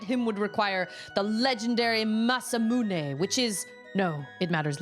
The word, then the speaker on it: Masamune: It's pronounced Masamune.